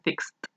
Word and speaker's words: fixed: Al no haber vibración, se pronunciaría con una T. Fix se convierte en fixed.